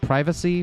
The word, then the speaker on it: privacy: you fill on this do you say private like privacy pri private private privacy that rhymes with primate oh that makes sense